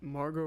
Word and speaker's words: Margot: hot what's her name isn't Margot Margo Margo so the team the T is silent yes she's from Australia